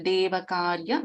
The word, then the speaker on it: देवकार्य: So you can notice, for example, Devakarya is Devakarya Samudyata. So doubling of letters. If you listen carefully, you can notice that.